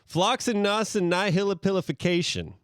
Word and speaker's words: floccinaucinihilipilification: Floccinaucinihilipilification.